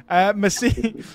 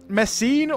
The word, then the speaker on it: Messene: Yeah, I think the second E is long, if I'm not wrong. So it would be something like Messene or something like that.